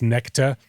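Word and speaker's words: Nexta: so telegram channel um it's actually pronounced necta even though it says next but basically the whole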